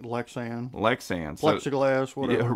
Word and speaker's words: Lexan: protected by 3-in um you say is it lexan lexon how do you say that yeah I think lexan lexan plexiglass whatever right